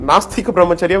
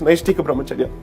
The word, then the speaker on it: Naishtika Brahmacharya: In fact, in the court, most of the time I heard people calling it Nastika Brahmacharya when in fact it's Naishtika Brahmacharya.